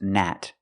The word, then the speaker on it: gnat: In this word, this is pronounced nat. The G is silent because it's at the beginning of the word.nat.